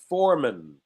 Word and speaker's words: foreman: manager called foreman foreman i know it's spelled man but we say min foreman or of course could